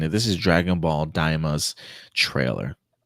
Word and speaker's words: Daima: Am I pronouncing it right? Daima?